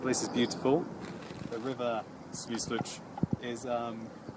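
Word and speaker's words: Свислочь: So, we're in the center of Minsk, and this is the river Svyslich.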